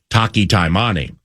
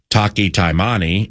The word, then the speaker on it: Taki Taimani: Ohio State, can fluidly move the likes of Taki Taimani.